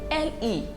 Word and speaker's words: le: four definite articles now these articles are le l e is pronounced as le l-a is pronounced as la l with an apostrophe in french you call it el apostroph and we have l-e-s pronounced as le so we have le la